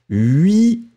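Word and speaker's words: huit: Mais quand on va le mettre, le combiner avec 1000 ou 100 ou millions, on ne prononce pas le T final. 8 millions, d'accord.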